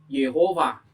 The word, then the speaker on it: Yehova: Ee itu naskah Ibrani abad 10, abad 11 Ling Rat Kodex itu ada dibacanya Yehova ya, bukan Yahwe gitu.